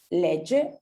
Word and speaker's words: legge: El le, tenemos esta pronunciación de la G, ¿sí? Ye, legge, pero en cambio cuando usamos la primera persona vamos a utilizar io leggo, ¿ok? Entonces vamos a tener el sonido duro en uno y el sonido dolce en otro, ¿ok?